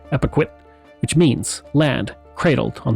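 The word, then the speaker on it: Epekwitk: liked to call it, Abikway, a European mispronunciation of the Micmac word Epiquit, which means land cradled on the waters.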